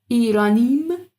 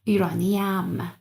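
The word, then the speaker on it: ایرانی‌ام: So, İranim, it doesn't work. İraniyam. We put this extra a in order to make the pronunciation easier.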